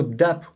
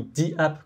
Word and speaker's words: DApp: vif du sujet alors le mot dappe ou 10 app quand on ne prononce à l'anglaise ça vient de 10